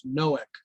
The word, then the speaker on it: Noach: for some people because I'm pronouncing the name as Noach, Yeah. but I believe that's more proper than Noah because the name Noah in Hebrew means wanderer.